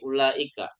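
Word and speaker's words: أولئك: tapi tidak bakal dibaca jadi bacanya bukan Ula Ika salah bacanya kita harus pendek ulaika ya Ula Ika jadi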